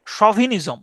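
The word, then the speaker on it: chauvinism: বাক্কানিয়া মানে হচ্ছে জলদস্যু এটার উচ্চারণ হচ্ছে সভিনিজম সভিনিজম সাওভিনিজম সভিনিজম সি এইচ এ ইউ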